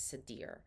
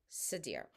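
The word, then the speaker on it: seiðr: of an ancient magic known as Sadir I hope I'm pronouncing it right it's s-e-d-s-e-i-d-r and there's accents my pronunciation of Norse phrasing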